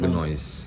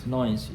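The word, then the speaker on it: Gneuss: Karena istri gue nama keluarganya kalau lo pronounce noise, genoise. Bahasa Inggris apa bahasa Jerman. Oh, di pronounce noise. G-N-E-U-S-S. Di Dibacanya pronounce genoise. Noise. Cuma gue nggak mau genoise banget kan, kalau gue cerai ribet. Jadi udah pronunciation-nya aja jadi noise.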